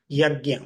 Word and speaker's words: yajna: So this is from the Sanskrit word yajna. What is yajna? So here we can see the two syllables, ya and gya.